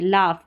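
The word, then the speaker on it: laugh: Spelling आप याद करें, लाफ LAU, ठीक है, यहाँ पर AU को आ पढ़ रहे हैं, अब AU को ओ भी प्रोनाउंस करते हैं, यहाँ पर आ कर रहे हैं, तो प्रैक्टिस से होगा। लाफ, अगर ये फ वाला आपको पता नहीं रहेगा तो रूल आप सिर्फ F लिखेंगे, GH नहीं लिखेंगे, जो गलत हो जाएगा।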